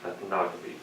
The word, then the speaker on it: ethnography: How would you put the accent on the second syllable? Ethnography. Yeah, I was so good. I know you keep wanting to say like ethno. Yeah. And then it makes the rest of it.